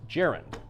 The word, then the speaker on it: gerund: Well, if you look into the English language a little bit, you have a comparable sounding word, gerund. Yeah. Which is spelled with UND, It's true. clearly, which is why it's pronounced gerund.